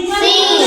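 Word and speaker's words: scene: यहां का पड़ भी सीन सीन सीन मतलब का दृश्य सी साइलेंट है एस के बाद आई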